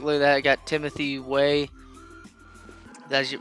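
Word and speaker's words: Timothy Weah: I got Timothy Way. That's how you pronounce his name and stuff like that.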